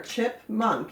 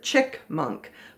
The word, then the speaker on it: chipmunk: chip with a p a lot of children pronounce it chick monk but it's not chick with ck it's chip chip with a pea